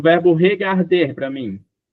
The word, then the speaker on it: regarde: Andress, o verbo regarder para mim. G regarde regarde. Aí como você não pode pronunciar o e, você vai acabar no D. E o som forte fica no garde.